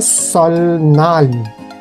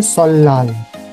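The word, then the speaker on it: 설날: लिखने वाली स्पेलिंग वही रहेगी जो सलनाल लिखी हुई है ना, लिखना ऐसे ही है लेकिन उच्चारण करना है सललाल।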